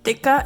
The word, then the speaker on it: tikka: for those of you who don't know what dikka is spelled t-i-k-k-a it is a blend of spices